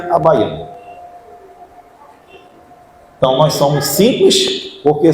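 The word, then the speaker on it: Abbagnano: Tem aquelas letras todinhas, mas a gente pronuncia Abaiano.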